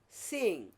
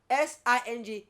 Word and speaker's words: sing: When a word ends in ng, we are never to pronounce the G sound. The G sound should be ng. Okay? Like for instance, singing. Sing. S-I-N-G is sing, not sing.